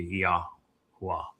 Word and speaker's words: Yahweh: and then the ah sound is from the hey. And so when you combine the hey and the wah together to get how, you're actually mispronouncing the name. So it'd be Yahweh.